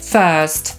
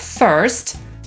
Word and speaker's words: first: „słowo”, czyli „word” /wɜːd/ lub /wɜ:rd/, „pierwszy” – „first” /fɜːst/ lub /fɜ:rst/, „dziewczyna” — „girl” /ɡɜːl/ lub /gɜ:rl/, „świat”, czyli